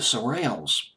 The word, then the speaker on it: Shirelles: was the group of black guys I can't surreal as I believe is how you pronounce I'm not sure how to pronounce it it's SOR TLS well the Shirelles the surreal when they're singing the song in